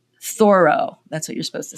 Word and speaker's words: Thoreau: There's a literary reference to, let me try to say it right, Thoreau, that's what you're supposed to say, and Walden Pond.